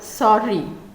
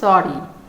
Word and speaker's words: sorry: তো আমরা এটা সরি এইভাবে প্রোনাউন্স করব না, দুটো লেটারের একটাই সাউন্ড হবে, মিন্স এটা আমরা বলবো সরি।